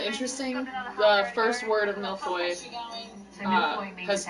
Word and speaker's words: millefeuille: The first word of millefeuille has 2 L's and so does the last one. But in the first word it pronounces the L, in the second word it pronounces the U.